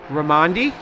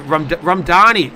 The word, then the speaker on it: Ramdani: now our race leader is ramandy sorry ramdani so I've been pronouncing it incorrectly ramdani oh no that was